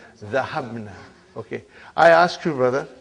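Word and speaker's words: ذهبنا: Now, how do you pronounce? Zahabna.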